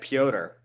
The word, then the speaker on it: Petr: David M says my pronunciation of Petr is rough. I thought that's his name, Petr Yan. I think it's like Piotr. Piotr? Okay, then yeah, I'm butchering it. All right, Piotr Yan.